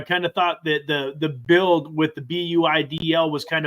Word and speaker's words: BUIDL: I always just go ahead and say build, because I've always felt like it was a play on words.